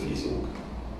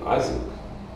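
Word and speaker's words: Ising: Дело в том, что, кстати, читается фамилия, ну, как у немцев, Изинг. Не Азинг, вот. Там Азинг, а Изинг.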